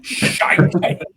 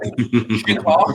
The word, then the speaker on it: shiitake: Shite. That's normal. Shiitake, it's pronounced, isn't it? Not shite. Shiitake.